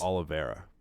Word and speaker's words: Oliveira: to pronounce this Charles Oliveira against Charles in Charge just say olive and then era Olive Oyl yes that's